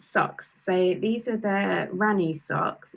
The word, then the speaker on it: Raanu: So these are the Ranu socks. It's spelled Raanu, and it's by Ronya Hakalento.